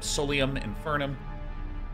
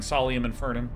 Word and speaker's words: Solium Infernum: steam and look up Solium infernum I keep saying solum infernum cuz I like mispronouncing things and making people cringe aium infernum it's out